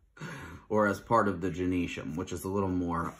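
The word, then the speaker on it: gynoecium: male part it looks it's spelled like uh it looks like gyno easium or something but it's genesium so it's spelled I know um e-c-i-u-m for genesium and then andresham is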